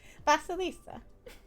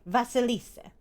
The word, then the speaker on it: Vasilisa: that i was sent no vasalisa let me make sure i'm pronouncing the name correctly okay vasilisa that's her name but i could read